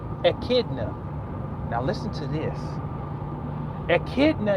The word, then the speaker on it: echidna: birth to one of their children is called echidna now listen to this echidna is spelled e CH I D and E echidna